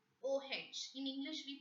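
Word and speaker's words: eau: O-H. In English, we pronounce it as O. A-U-S-S-I, O-C, E-A-U, O. E-A-U as a separate word, it has a meaning in French. O means water.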